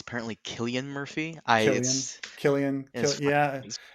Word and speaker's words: Cillian Murphy: by the way we apparently we pronounced his name wrong it's apparently Killian Murphy Killian yeah it's just British people he used a c okay I'm sorry sorry sillian Killian Killian Killian Murphy boys fine okay um